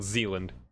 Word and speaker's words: Zealand: Yeah, I just googled it exactly as it's spelled, and the first link is the Wikipedia article Zealand, like Zeal and.